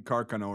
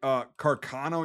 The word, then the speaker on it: Carcano: Carcano, you're going to piss off somebody from northern Italy. Carcano, you're going to piss off somebody from very southern Italy. Carcano, you know, is like kind of central.